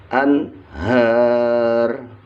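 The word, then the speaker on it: الأنهار: Nun sukun bertemu ha. Ha adalah salah satu huruf idhar, maka dibaca jelas anhar, anhar.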